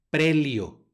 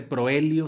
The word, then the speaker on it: proelio: la siguiente palabra tenemos una o seguidora una eg en este caso hace diptongo y suena como e prelio no se dice proelio sino premio en la siguiente palabra